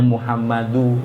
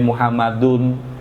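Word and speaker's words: محمدُ: Jadi kalau ada ya itu bacanya Muhammadu enggak boleh Muhammadun tanwinnya harus dihilangkan kalau ada ya itu ya Muhammad.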